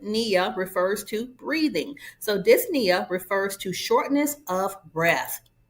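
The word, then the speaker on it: dyspnea: So, dys means difficulty and then the p is silent. Nia refers to breathing. So, disia refers to shortness of breath.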